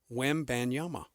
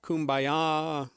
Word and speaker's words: Wembanyama: I just said, "Make it simple. It's Wembanyama. Easy." But, I hear Wim, I hear Kumbaya.